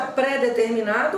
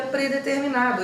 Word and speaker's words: predeterminado: Mas você escuta pré-determinado ou predeterminado? Porque eu escuto pré-determinado. Só que o certo seria predeterminado. Esse é o pré-átono, então ele vai ficar sem hífen, é uma palavra só, predeterminado.